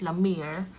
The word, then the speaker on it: Lamir: Pero 'yung 'yung views niya sa paggamit ng Lam Lamir actually yung pronunciation niya is Lamir.